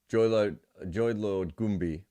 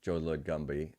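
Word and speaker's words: Joylord Gumbie: But as I said, the batting, Joy Lord Gumbi, sadly not pronounced Joy Lord Gumby.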